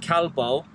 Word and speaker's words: calvo: Considering the only other word I knew before that was gracias and calvo. Is it calvo? Calvo, yeah. Oh, calvo. Calvo. With a V.